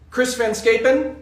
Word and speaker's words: Chris Van Scapen: Chris Van Scapen, that's how that is pronounced. That's my wife's maiden name, and so I'm a pro at that.